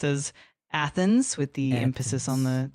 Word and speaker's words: Athens: Uh the initial a in Athens is indeed pronounced like the a in cat.